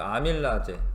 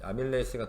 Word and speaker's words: 아밀레이스: 후 소장에서 모세 혈관으로 가끔 예전에는 이렇게 말했어요 아밀라제 아밀라아제 아밀라제 이게 영어 써져 있는 대로 읽으면 이렇게 아밀라제 있거든요 근데 아밀 레이스가 더 영어 발음에 가깝기 때문에 이제 아밀레이스 해 자 최종 흡수가